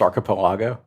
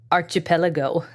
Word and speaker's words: archipelago: It was archipelago. All right. And I've always said archipelago. I think your emphasis is on the wrong syllable if you pronounce it that way.